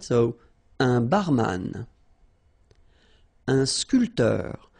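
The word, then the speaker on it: sculpteur: so a bman and sculpter same thing here this P here is not pronounced so SC SC sportif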